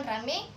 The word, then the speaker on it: ramai: Misalnya, kata ramai diucapkan rame, petai diucapkan pete.